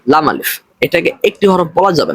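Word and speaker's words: لا: এরপর রয়েছে হামিম, এরপর রয়েছে মিম নুন, এরপর রয়েছে লাম আলিফ। এটা এরকম উচ্চারণ করা ভুল, বরং উচ্চারণ করতে হবে লাম আলিফ।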